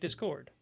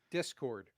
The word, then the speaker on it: Discord: I say it Discord. Versus, how do you say it, Mark? Discord. Yeah, he puts the emphasis on dis, where I put the emphasis on cord.